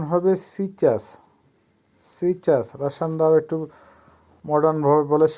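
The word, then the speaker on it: сейчас: সিচাস, সিচাসের অর্থ হবে এখন। উচ্চারণ হবে সিচাস, সিচাস।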